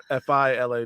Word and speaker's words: Fila: It's just Fila. No, I think you thought it was some like French brand that was like fancy spelled.